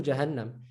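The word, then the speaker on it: جهنم: is pronounced in Arabic, it will be pronounced as, listen to the N, right? In the Jannah. Jannah. Listen to Jahannam. Jahannam. Jannah. Jahannam. Look at the difference. So it doubles the letter.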